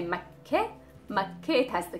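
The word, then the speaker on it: مكة: Makke, it has the K and the T marboota at the end, so we would just say Makke, Makke.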